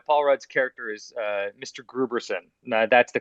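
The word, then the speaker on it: Grooberson: Gruberson. That's the correct pronunciation of his name.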